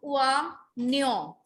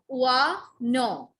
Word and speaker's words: oignon: Now see, in these kind of words where G and N is together, where G and N come together, we put G as silent. Okay? So it is oignon and oignon.